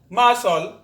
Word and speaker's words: muscle: to the letter c the letter c is silent in the combination s c also before the letter k o q example muscle fascinate acknowledge acquit in